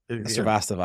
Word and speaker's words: Srivastava: Srivastava.